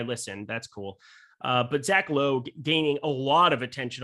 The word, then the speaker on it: Logue: This young Zach Logue character. Yes, L-O-G, Logue is what I was told is how you say his last name.